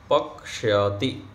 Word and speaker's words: पक्ष्यति: तो सह भोजनम पक्ष्यति, क्या उच्चारण करेंगे, पक्ष्यति। यहाँ जो क्ष होता है ना, उसमें क आधा है और क्ष होता है, तो पक्ष्यति, पक्ष्यति ऐसे उच्चारण होगा।